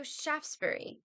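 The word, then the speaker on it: Shaftesbury: dexra Mayu in bed Shaftsbury Avenue no Shaftsbury three syllables liester Square Le leer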